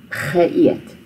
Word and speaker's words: geëet: prefix, and then eet is where you start the new sound. Ge eet. So that's why you have the deelteken there on that E to split ge from eet. Die baba het genoeg geëet.